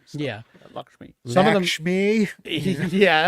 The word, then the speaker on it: Lakshmi: Lakshmi.